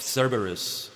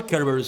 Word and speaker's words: Cerberus: game specifically durch of Cerberus or kerberus if you prefer I sometimes pronounce it like that but yes Redemption